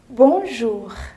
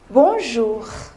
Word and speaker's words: bonjour: say bonjour would you mind repeating after me bonjour very good literally bonjour means good day means